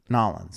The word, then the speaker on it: New Orleans: Nolans. I believe it's pronounced.